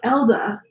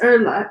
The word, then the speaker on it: Erla: It's spelled like Elda, but it's Erla.